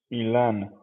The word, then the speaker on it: Ilan: How would you pronounce it? Ilan, Okay, I got you, brother. it's uh, it's a word in Hebrew.